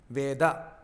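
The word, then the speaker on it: वेद: it is actually V in Sanskrit every letter at the end of a word is pronounced with a half elongation of the sound a it is called aarant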